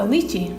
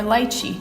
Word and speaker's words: lychee: This is a lychee, or lychee, depending on how you say it.